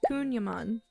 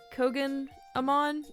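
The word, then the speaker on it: Kouign-Amann: before making this video I've been pronouncing it wrong since I saw the word I was pronouncing it like kogan Aman or something like that and I had to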